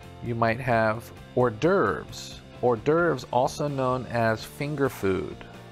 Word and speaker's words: hors d'oeuvres: Number 18 is pronounced hors d'oeuvres. Hors d'oeuvres.